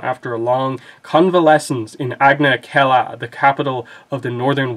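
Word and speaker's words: Agna Qel'a: It's Agna Kella.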